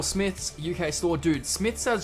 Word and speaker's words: Smiths: And I pronounced it as Smites originally. And you guys like it's pronounced Smith.